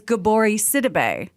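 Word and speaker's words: Gabourey Sidibe: it's spelled jesus but when she was on interviews after precious came out they were saying her name was gabori sidibe why would i why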